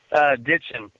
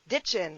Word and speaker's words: Ditgen: chemistry Dickon and I say that properly ditchin ditchin I want to say it right because names